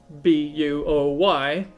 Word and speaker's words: buoy: so the the the boys all that i caught i named it boy b-u-o-y uh in in some regions pronounced as buoy but i think that's kind of weird anyway boy lighter is